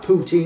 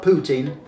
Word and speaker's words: poutine: to pronounce a poutine if you're an english-speaking canadian i'm not canadian you'll almost certainly pronounce it poutine i'm english to start poutine i i've always i've always said it like that poutine not putin poutine how to eat a